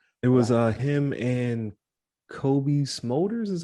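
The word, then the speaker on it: Cobie Smulders: in my list it was uh him and Kobe smolders is how you say her name yeah yeah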